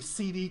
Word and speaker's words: cd: Now, sometimes I'll hear people refer to as the change dur the change dur often as not I refer to this as the cd command.